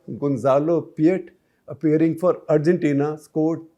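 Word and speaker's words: Peillat: Until 5 years back, Gonzalo Piet, P-E-I-L-L-A-T, pronounced Piet.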